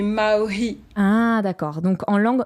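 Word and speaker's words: mā'ohi: Tu chantes parfois en langue vernaculaire tahitienne, dite maoi. Je pense que je prononce bien. Presque. En fait, nous, on prononce le H. Du coup, ça fait maori.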